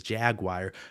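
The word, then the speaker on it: Jagwire: But no, his name is Jaguar, but not spelled like the cat Jaguar. It was j a g wire, w i r e.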